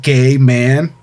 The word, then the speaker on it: Gaiman: He goes, is your name pronounced Gay Man?"